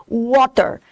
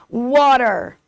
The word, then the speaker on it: water: Esse T no meio da palavra, ele não é pronunciado, ele tem um som quase de R, water, tá? Então, tem uma diferença, water, water, tá?